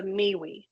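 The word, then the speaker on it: MWEE: Atmospheric agency Noah um called the miwe and that's not phonetically correct but that is what it is and it's the meaningful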